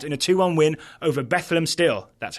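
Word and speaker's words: Bethlehem: Career Pro start in a 2-1 win over bethleem steel that's how I've been told to pronounce it um he he is now the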